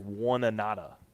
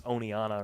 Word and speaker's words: Oneonta: hard it's so hard to look at Oneonta and know how to pronounce oneiana does because it looks like one anata like when you see o-n-e you think one but it's oneiana or something like that I guess yeah words